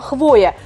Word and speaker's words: хвоя: Я говорила, что буква «я» в основном перетягивает на себя ударение, но только не в случае со словом «хвоя». Опять словарь нас подвел, наша бубенную речь. Серьезно, что ли? Правильно будет не «хвоя», Вань, представляешь, а «хвоя».